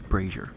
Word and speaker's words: brazier: I uh I looked it up real quick. It's braier. Brazier. Look, I've been saying it wrong too long.